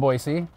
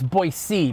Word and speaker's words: Boise: wet town today so boise is on fire actually it's boise boise is on fire let's talk a little bit about the debate between boise and boise tell me